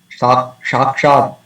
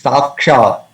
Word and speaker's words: साक्षाद्: And also this is the dantyasa, it is not shakshad, it's not shakshad, it is sakshad dharitvena samasta shastrai.